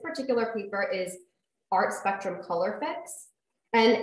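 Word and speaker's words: Colourfix: So this one, if anyone is interested, this particular paper is Art Spectrum Color Fix. And it's spelled C-O-L-O-U-R-F-I-X.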